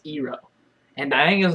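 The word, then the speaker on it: Iroh: how you pronounce the stuff iro is not pronounced iro it's pronounced ero and I think is not pronounced dang it's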